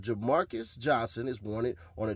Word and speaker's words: Jermarcus: It was Jermarcus, not Demarcus. A J and a D.